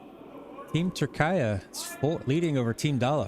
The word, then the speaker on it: Türkiye: Steal a 2 for Team Türkiye. Hoping I'm saying it correctly. I was corrected that I shouldn't be saying Turkey anymore. Yeah, Türkiye. Türkiye. Hopefully that's correct.